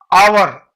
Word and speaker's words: hour: लेकिन अगर साउंड बहुत इंपॉर्टेंट है, जिसे आवर HOUR, ये आवर है लेकिन H इसमें साइलेंट है, OUR तो वॉवेल का साउंड आ रहा है तो यहां ए नहीं लगेगा, एन लगेगा।